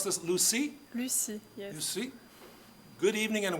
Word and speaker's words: Lucie: We pronounce this Lucie? Lucie, yes.